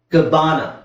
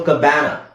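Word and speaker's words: cabana: ಆ ಅಂತ ಹೇಳಬೇಕು ಬನಾನ ನೆಕ್ಸ್ಟ್ ಇಲ್ಲಿಸಎಬಿಎ ಕಬಾನ ಅಥವಾ ಕಬಾನ ಸೋ ಇದನ್ನ ನಾನು ಕ್ಯಾ ಅಂತ ಹೇಳ್ತಾ ಇಲ್ಲ ಕ ಅಂತ ಹೇಳ್ತಾ ಇದೀನಿ ಇದನ್ನ ಬ್ಯಾ ಅಂತ ಹೇಳ್ತಾ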